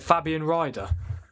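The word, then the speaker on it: Fabian Rieder: Is that how you say it, Fabian Ryder?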